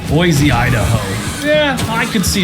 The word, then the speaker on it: Boise: But Boise, Idaho, and by the way, that's how you pronounce it, Boise, not Boise, which I did at the beginning.